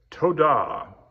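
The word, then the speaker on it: תודה: So toadah, make sure I'm accenting that last syllable properly.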